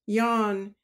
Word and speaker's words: Jean: worried because a mate called Jean which bretons pronounced yawn did not come down